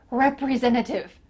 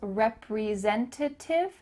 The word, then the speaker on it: representative: pronounce the word representative you might notice that the t the first t in this word i'm cutting out you can pronounce it you can say i'm a sales representative to tiff in the middle of that word but you can just cut it out too that's what a lot